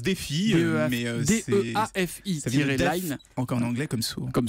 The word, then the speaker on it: DeafiLine: dit fidèle à j'écris des ah ça se prononce défi mais encore l'anglais comme socom sorède défi line